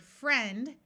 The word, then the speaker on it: friend: a long u sound here's the word friend which has the short e sound this is with